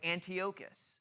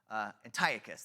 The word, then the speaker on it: Antiochus: His name was Antiochus Epiphanes, or I always pronounce that wrong. Antiochus, there it is.